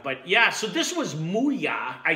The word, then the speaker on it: MooYah: But yeah, so this was MooYah.